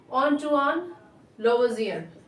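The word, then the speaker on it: Antoine Lavoisier: तो एक French chemist थे जिनका नाम था ऑन्टुआन लवोसियर। ये करेक्ट प्रोनाउंसिएशन है, ठीक है ना। क्या करेक्ट प्रोनाउंसिएशन है? ऑन्टुआन लवोसियर, ठीक। ये फ्रेंच केमिस्ट हैं, तो ऑन्टुआन लेवोसियर अंग्रेजी प्रोनाउंसिएशन होगा, राइट।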